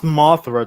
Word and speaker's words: Mothra: At no point did anyone declare Martha, and they just stopped fighting. This movie, it's pronounced Mothra, Charlie.